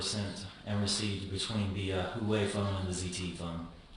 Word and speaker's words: Huawei: the contact Los on the Hawaii phone, or I'm going to pronounce that wrong. It's the Huawei phone.